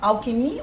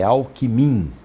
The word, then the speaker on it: Alckmin: a questão a da forma com que se pronuncia queria que eu contasse pra gente afinal alckmin o alckmin líder josé de alencar rosada ele